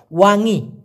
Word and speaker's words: wangi: হারুম মানে হচ্ছে সুগন্ধ অথবা মিষ্টি গন্ধ, যেটাকে আবার আর একটা ভাষায় বলা যায়, সেটা হলো ওয়াঙি, WANGI, ওয়াঙি।